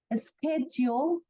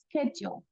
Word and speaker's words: schedule: check another is located schedule schedule okay also also it has like an s c but it's pronounced like a k also schedule and um